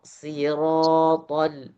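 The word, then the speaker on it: صراط: Bedanya yang sa itu tipis, sh tebal. Di mana perbedaan tipis dan tebal? hanya pada perbedaan di lisan di lidah. Kalau sh itu, kalau huruf tebal itu lidah bagian belakangnya terangkat sedikit. Kalau yang tipis tidak terangkat sama sekali. Jadi bacanya siro siro siratol.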